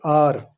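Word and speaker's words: hour: एन आर, यहाँ पर H silent है।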